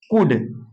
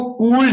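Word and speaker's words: could: है क्या दिया है कुड इसको कल्ड नहीं पढ़ेंगे कुड पढ़ेंगे कुड एल नहीं पढ़ा जाएगा उड दोदो उदाहरण दिया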